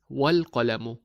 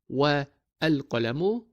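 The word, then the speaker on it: وَالْقَلَمُ: But when we add wa to it, we read it as wal-qalamu, not wa al-qalamu, but wal-qalamu. We combine them by dropping the a sound of the prefix al.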